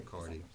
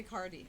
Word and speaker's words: Cardi: And I actually changed the spelling of my name from C-A-R-T-Y to C-A-R-D-I because it's cardiology, which has to do with the heart. And that's the way everyone pronounces it anyway. They all say Cardi.